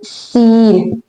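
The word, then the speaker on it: س: So this letter is named as seen. This letter is named as seen. What is the sound of scene? Basically it has a whistling light sound just like this.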